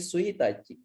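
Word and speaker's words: 一日: Jadi ini buat tanggal 1, ini suitachi.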